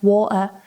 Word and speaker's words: water: As a side note, although Brits don't tend to use the flap T and say things like water better or water better, which sounds more Australian, what we tend to do is use the glottal T instead. So this is when you pronounce the T here instead of in your mouth. So better sounds like better, water sounds like water, and later sounds like later.